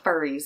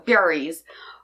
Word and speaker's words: Furies: I keep wanting to call it the Furries, and it's not the Furries, it's the Furies.